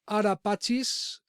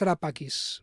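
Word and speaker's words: Ara Pacis: To whom was Arapachis dedicated to? ¿A quién estaba dedicada el Arapacis? Que su pronunciación correcta en latín creo que es Arapakis, ¿vale?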